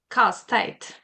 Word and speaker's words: casse-tête: Well, we actually say puzzle in French too, but it's casse-tête. Casse-tête.